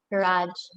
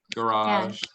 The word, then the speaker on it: garage: one garrett and garage it's the difference between like a british and american pronunciation maybe i like the garage garage garage garage in american english we say garage garage yeah in british english we tend to say garage or marriage garage in